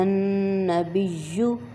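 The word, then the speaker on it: النبي: والطیبات السلام علیک ایہا النبی، نون پہ غنہ کریں گے، اس کو تھوڑا سا کھینچ کے ناک میں آواز اس کی کھینچیں گے، ایہا النبی ورحمۃ اللہ وبرکاتہ، چھوٹی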